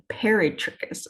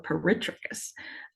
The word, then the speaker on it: peritrichous: at one end, and peritrichous or peritrichous, sometimes it's pronounced, having these flagella all over the place.